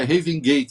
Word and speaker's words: Raven: Porque assim, Raven Gate, e gente, é Raven Gate mesmo, não é Heaven, porque não é do para, é sem o A, né? Sem o E, o melhor, né? Raven, se escreve Raven Gate mesmo. Não é Heaven, de paraíso.